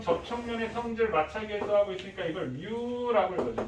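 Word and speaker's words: μ: 그럼 접촉면의 성질 마찰계수하고 있으니까 이걸 뮤라고 읽어줘.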